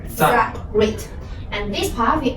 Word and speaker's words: 再: And this the pronunciation is Z. So we combine this now. Z, I. Zai.